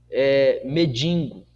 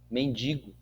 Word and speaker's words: mendigo: pronuncie perturbação mas perturbação não pronuncie medingo não pronuncie as palavras de forma correta mendigo fazendo assim você estará